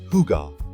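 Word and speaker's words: hygge: Copenhagen without understanding this essential Danish concept it's pronounced hugar and it's basically the art of cozy living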